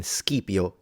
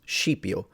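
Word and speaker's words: Scipio: exactly the same way classical Latin the s c was a like in skipio Africanus but then that becomes shio not only in in Italy in Italian but also in in the Italian pronunciation of Latin AKA ecclesiastical la probably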